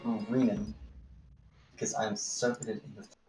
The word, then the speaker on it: Rinon: It is Rinon, not Renon, right? Is it Rin? Ring and. He has said multiple times it's Renan. If you need a visual vision, but it's spelled R-I-N-O-N, pronounced Renan, because I'm serpent in the.